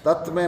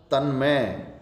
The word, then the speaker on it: तन्मय: तत्मय। तत्मय नहीं होगा, तन्मय।